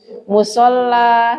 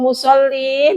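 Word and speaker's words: مصلى: Bu Didi ini dibacanya nanti musolla. Jangan dikasrahkan ya karena dia berakhiran dengan alif namanya. kasrahnya enggak muncul. Musalla tempat salat. Heeh. Musalla bacanya gitu. Jangan dikasrahkan karena kalau musoli nanti artinya orang yang salat ya.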